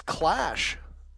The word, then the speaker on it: Clash: alright CCTV cache this clash as it rhymes with cash huh class has been